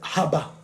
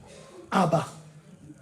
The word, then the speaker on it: Abba: Je parle de Haba. Haba. Maman Sarah, c'est Haba. Abba. Apostrophe A-B-A-H. Abba. Mais on le prononce Haba.